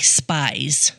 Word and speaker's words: Spies: It's spelled like spies. Oh, okay. But it's pronounced Spies.